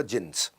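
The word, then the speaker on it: Djinns: उसमें बेसमेंट में क्लब होता था, जिन्स, डी जिन्स लिखता था, डी साइलेंट होता था, जिन्स।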